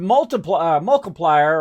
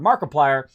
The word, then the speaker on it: Markiplier: I was watching this thing with Multiplier, or whatever, Markiplier. I always get his name wrong.